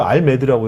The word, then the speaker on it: RMAD: 뭐라고 읽어요? 알메드라고 해요?